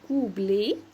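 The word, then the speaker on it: couplet: اي دايما بنقول شغلي الكوبليه هي اصلا كلمه فرنسيه بتتنطق كوبليه كوبليه اخرها اوتي انطقها ايه عايزه اقول احط لعبه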